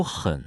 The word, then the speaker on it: 很: 还有很字是第 3 声，要注意声调，不然读成第 1 声哼，意思虽然能懂，但发音就不标准了。